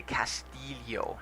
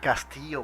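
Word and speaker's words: Joaquín del Castillo: They got caught inside by that scratching set, and the correct pronunciation of Joaquin de Castillo. Castillo, perfect. Castillo.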